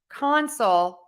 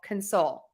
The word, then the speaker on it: console: What we're hearing is when we stress syllable number one, we're going to say that vowel, that ah vowel, ah, compress, console. But then when we unstress that first syllable, when we go to stress syllable number two in those words, we are going to make syllable number one that schwa, that sound.